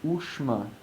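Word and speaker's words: ūṣma: Ushma is spelled sha with the dot underneath, so it's a cerebral sha with the dot underneath, and then ma, U-S with a dot M-A.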